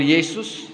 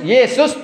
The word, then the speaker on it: Yesus: Tertulis Yesus tapi bacanya Yesus. Mana kalian yang betul? Ya. Pakai S. Tertulis pakai S. Di sini tertulis pakai S tapi dibaca tidak pakai S.